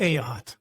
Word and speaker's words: Ayotte: Ayotte. Ayotte.